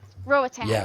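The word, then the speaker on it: Roatán: Roan Rotan like from Rowan Island. Roatan. Okay, so that's how you say it.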